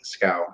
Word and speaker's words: Schow: Also, you can go to my author page at Schow, SCHOW. Looks kind of funny, but it rhymes with cow.